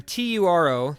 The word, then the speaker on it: Turo: when Toro Toro Toro some people say I pronounced a weird when tu ro the company right there